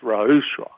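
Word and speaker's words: ruach: different meanings uh the word for spirit is rausch and it's spelled r-u-a-c-h and typically it means breath or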